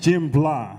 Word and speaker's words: Jimblah: that was it that was all right it's pronounced Jim blah like with a with a l okay so